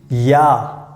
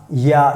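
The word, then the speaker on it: ja: yes then we use yeah yeah so here you can see j we pronounce like y so yeah so you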